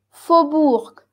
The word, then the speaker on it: faubourg: Faubourg, faubourg, faubourg. Esta AO tú la pronuncias como una O.